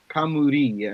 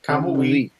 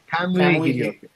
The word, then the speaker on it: Kamui: Well, because normally you say like, you'll say like Kamuri, and so it's like, no, it's Kamui. Kamui. Yes, Kamui it's an old, for the record. It's spelled like it sounds.